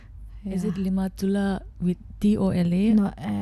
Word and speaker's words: Limatola: Limatola with TOLA, not TULA. Is it Limatola with TOLA?